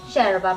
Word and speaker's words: yerba: In Uruguay, same as Argentina, any words that has WL or Y, we pronounce it as sha. Hence, bombilla and yerba mate.